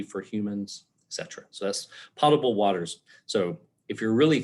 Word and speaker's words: potable: so many times with saying it wrong it's pronounced potable potable i won't tell you how i said it